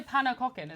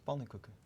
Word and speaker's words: pannenkoeken: I only know pannekoeken. Is that how it's pronounced? Pannenkoeken. Oh, see, I didn't even say it correctly.